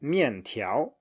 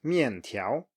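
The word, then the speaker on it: 面条: falling and then rising. So 面条, noodles, 面条, or 去年, last year, 去年, 去年, and then 问题, 问题, problem or question.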